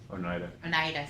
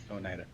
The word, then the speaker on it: Oneida: Oneida, sorry. Oneida. Glasses and mispronunciation.